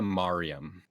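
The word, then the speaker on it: Maryam: How I pronounce it is Kanaya Mariam.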